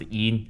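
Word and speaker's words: 阴: This is pronounced yin and this is pronounced yang.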